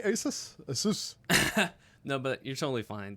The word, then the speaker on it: Asus: Asus.